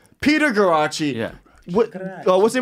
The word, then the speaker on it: Guarraci: peter how do you say your last name karachi peter garache yeah oh what's the name of your podcast